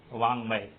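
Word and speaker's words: वाङ्मय: गा जो तीसरा अक्षर है उसको नाक से बोलने का प्रयत्न करो तो ग न, इसका सही उच्चारण है ग।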